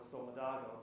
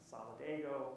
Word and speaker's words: Solidago: in this room yeah solidago we there's multiple pronunciations we typically go with solidago but some people solidgo however however you want to say it it's the Latin